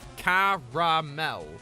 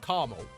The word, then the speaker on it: caramel: loads of syllables there it's when people miss the second a and it's just like caramel I'm like what no there's an extra letter you're just ignoring I mean I'm one